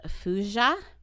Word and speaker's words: thujone: And then wormwood itself contains something called fuja, but it's spelled Thujone.